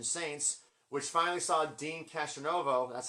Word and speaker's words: Castronovo: And then Jack Blades was also in this band, the Revelation Saints, which finally saw Dean Castronovo, that's how I say his name, from Journey and Bad English, singing lead on something because he's got an amazing voice.